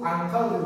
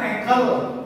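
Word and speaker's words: uncle: ya unkle mau unle semuanya unkle walaupun seisi huruf itu unkle baca ya jangan engle kalauel itu perkelangan angkle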